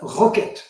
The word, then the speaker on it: rkt: exemple le corps os RKT il faut prononcer ça roquet il est très proche